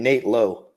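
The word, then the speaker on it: Nate Lowe: me about the pronunciation so it's branded low and then Nate Nate now you said it no it's it's Brandon Lau and Nate low but they don't say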